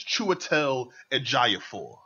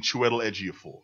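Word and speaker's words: Chiwetel Ejiofor: Swinton mads Michaelson okay now I've I've been pronouncing this wrong apparently um it's chel aapor and I've been saying Chu edor I've been saying that I've been saying that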